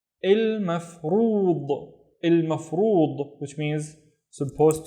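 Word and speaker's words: المفروض: The first syllable is il, and then maf, and then rood. Il mafrood.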